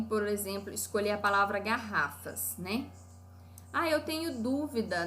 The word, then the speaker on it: garrafa: oi olha só e a palavra garrafa ela é paroxítona proparoxítona e de acordo com grande paroxítona garrafa sílaba tônica em ra Olha que interessante que